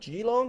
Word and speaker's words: Geelong: the Geelong cycling how do you say that Geelong is that correct yeah Geelong yep cheer long